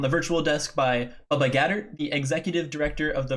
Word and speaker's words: Gaeddert: We are joined today on the virtual desk by Bubba Gaeddert, the Executive Director of the Varsity Esports Foundation.